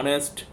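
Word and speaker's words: honest: আচ্ছা, you must be dash অনেস্ট, দেখতে পাচ্ছ অনেস্ট, এটাও বলা হয়েছে, এইচের সাইলেন্ট থাকছে এখানে, যা হোক, ঠিক আছে। অনেস্ট ও থেকে সাউন্ড হচ্ছে, ভালো করে বোঝানো হয়েছে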